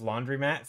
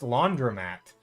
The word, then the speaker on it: laundromat: I always thought it was laundry mat since that's how people pronounce it, right? Same here. Yeah, it's it's pronounced laundromat with an O, I think.